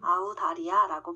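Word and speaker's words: 澳大利亚: 중국어로 오스트레일리아는 아우다리아입니다. 이걸 한국말로 발음한다면 아우다리아라고 발음됩니다.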